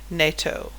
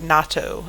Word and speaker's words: NATO: north atlantic treaty organization nato you also heard natto it's pronounced both ways depending on what language you speak so there was a